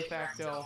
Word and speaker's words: Facteau: All right, so we got your name, number, position correct, and pronunciation. All right, number 6, utility outfielder Clay Facto. Yes, sir.